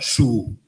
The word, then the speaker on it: Sioux: Ninguén se decatou de que Sioux se pronunciaba su, porque viña do francés, etc. Su, non Sioux.